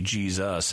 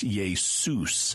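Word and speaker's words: Ἰησοῦς: We tend to pronounce it as Z, which is why we say Jesus in English.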